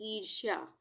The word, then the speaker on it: ईर्ष्या: इसके बाद है ईर्ष्या, बड़ी है ये, तो उसके बाद आधा मूर्धन्य श और या, र पहले आ रहा है इसके बाद, तो अगले अक्षर पे ही लगेगा र, आधा र, यानी रेफ की मात्रा।